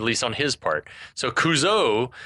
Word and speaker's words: Couzo: as coach and then he pronounces it kuzo and it was at this moment that we realized that the decision had been made at some point to Accent the final vowel kuzo kuzo at least